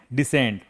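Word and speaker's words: descend: ई है silent डिसेंड।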